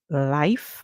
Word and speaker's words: life: our next word life because the e at the end silent in this one this time we hear the I sound so I and we see I sound being used here now but in live we saw that the I make the short song and the e was silent remember when the silent